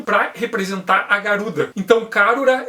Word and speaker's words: Karura: representar a garuda então karura é a pronúncia japonesa para garuda e iga ele vai